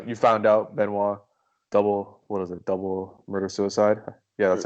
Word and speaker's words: Benoit: the next day, they like you found out Benoit double murder suicide, yeah, that's how you say it.